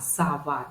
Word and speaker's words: сова: Су, суп, со, сова, например, да, хотя мы говорим не сова, а сава, да, вот можно как бы именно не конкретно как пишется слово, а как оно произносится.